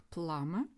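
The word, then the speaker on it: plumber: ще одне у слові Сантехнік пламе буква б не вимовляється суфікс and отримуємо у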